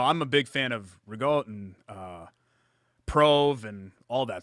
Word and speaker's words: ricotta: Ricotta. Okay. Spinach in there, Yeah, right? but I say it like authentic, like ricotta.